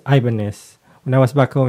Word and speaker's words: Ibanez: Then the Ibanez, we call it Ibanez before, but it's Ibanez. When I was back home in the Philippines, there's a surname like that, but it's a Ibanez.